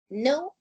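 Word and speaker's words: know: No y knew. ¿Ok? Se pronuncia. La K-N-O-W se pronuncia no. La K no se pronuncia, solamente desde la N, no.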